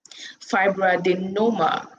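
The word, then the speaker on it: fibroadenoma: going to get there it's actually spelled f-i-b-r-o-a-d-e-n-o-m-e fibro-adenoma yeah that's the right pronunciation i got it right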